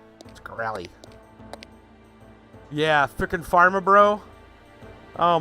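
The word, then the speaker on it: Shkreli: dude oh yeah yeah Martin scell Martin scy you got to say his name like that scy yeah freaking Pharma bro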